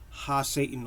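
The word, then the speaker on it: HaSatan: And Satan, properly, if you really want to say it properly, you would say Ha Satan or Ha Satan, right? Ha being the definitive particle the, right? Because Satan is really a title, which means the accuser, right? So you have to put the in front of it, right? If you want to say it correctly from the ancient Hebrew.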